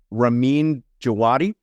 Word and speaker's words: Ramin Djawadi: Yeah, one of the things I love about the show so much is the music, composed by, I think you pronounce it, Ramin Djawadi.